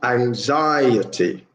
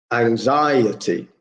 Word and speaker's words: anxiety: so for number one it's four syllables anxiety anxiety so yeah second syllable is where the main stress is anxiety number two is the